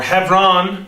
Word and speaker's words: Hebron: declares himself king in Hebron or Heffron it's really how the right way to say it and he um he